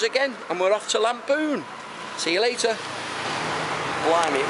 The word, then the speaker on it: Lamphun: it's spelled A... L-A-M... P-H-U-N, Lamphun, but they call it Lamphun.